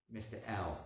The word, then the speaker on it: Hell: You don't pronounce the H in French. H-E-L-L. Mr. L. That's his name. You don't pronounce H in French, so it's not Hal, it's L.